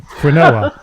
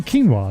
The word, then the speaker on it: quinoa: someone, and I go, have you ever tried that quinoa? And they went, quinoa? Do you mean quinoa? And I went, oh, is that how you say it?